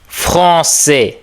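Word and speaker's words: Français: வாசிச்சு பாருங்க ஒருக்கா நீங்கள் ஃபாசே ஓகே ஃபாசே இந்த ஆ ஈ வந்ததுனால் நாங்கள் ஏ என்று உச்சரிக்கிறோம் ஃபாசே பாசே என்றால் பிரெஞ்சு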